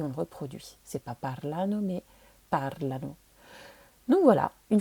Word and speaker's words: parlano: L'accent va être décalé sur la première syllabe parlano.